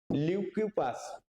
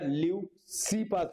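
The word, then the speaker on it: Leucippus: হ্যাঁ একচুয়ালি এটা কি এর উচ্চারণটা বাংলাতে ওইটা লিউ সি পাস হয় একচুয়ালি সি রয়েছে স্পেলিং এ এবং তার ছাত্র ডেমোক্রিটাস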